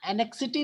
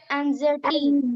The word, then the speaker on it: anxiety: And sir, Annexity नहीं. Many people pronounce as annexity. It's not the annexity. It's what is this? anxiety, Annexity.